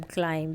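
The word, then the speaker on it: climb: बोला जाता है अह इन the word given below the letter B is silent जैसे कि वो बॉम टोम बॉम क्लाइम कोम।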